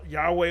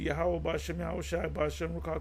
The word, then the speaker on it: Yahawashi: If you call on Yeshua and um uh Yah Yahweh or whatever, you got will tell you that's not that's not how you pronounce the name. That's how that's not how you pronounce the names. When we put the name up there, we say giving all praises to Yahawash shalom to the 144,000 the